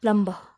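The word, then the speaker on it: plumb: ठीक करना है, हमको प्लम्बर को बुलाना है, तो उसका सही प्रोनाउंसिएशन है प्लम्ब प्लम्ब। बी तो है स्पेलिंग में, लेकिन उसे हम साइलेंट कर देंगे, उच्चारण में नहीं ले लेंगे।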